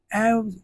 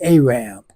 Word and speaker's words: Arab: See you in the in you all say Arab. The correct pronunciation is Arab.